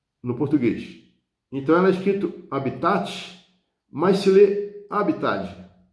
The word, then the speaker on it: habitat: né ela passou direto do latim para a pronúncia no português então ela escrito habitat mas se lê habitat o habitat é como